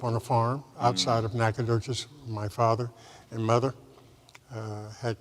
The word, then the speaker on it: Nacogdoches: Number one, Nacogdoches, Texas.